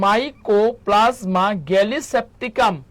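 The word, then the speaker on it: Mycoplasma gallisepticum: সবচাইতে ছোট কোষ হচ্ছে মাইকোপ্লাজমা গ্যালিসেপটিকাম। আবার বলতেছি উচ্চারণটা। সবাই একটু মুখস্ত করে। খাতার মধ্যে লেখেন কমেন্ট করেন সবচাইতে ছোট কোষ কোনটা বলেন সবচাইতে ছোট কোষ হচ্ছে মাই কো মাইকো প্লাসমা গেলি স্যাপটিকাম বা পিপি এলও কি বললাম পি পি পি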